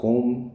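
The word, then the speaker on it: comb: अब कोम इसको पढ़ते हैं कोम तो कोम का क्या हो जाएगा बी साइलेंट हो जाएगा इसको हम लिसन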